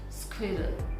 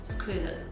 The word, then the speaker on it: squirrel: So the correct pronunciation of this word is squirrel, squirrel, squirrel. So repeat after me, squirrel.